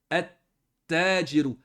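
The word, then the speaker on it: التَّاجِرُ: Quand on fait rentrer alif lam, on ne prononce pas le lem. On va prononcer comme ceci. Naturellement, la colonne ici, on n'écrit pas comme ça. Hein? On le prononce comme ceci, mais on l'écrit comme ceci. On va dire at-tajiru.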